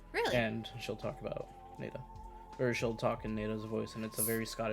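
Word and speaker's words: Naida: when she is speaking to Kayla how they pronounce her name in the audiobook yeah NADA it's it's n a i d a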